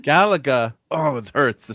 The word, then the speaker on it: Galaga: Galaga. Oh, it hurts to say it that way. Well, don't say it the way you want to say it. So, the Gala part is pronounced like galaxy.